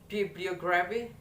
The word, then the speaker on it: bibliography: The next that is bibliography. Okay, you hear me. Bibliography. That is in the third.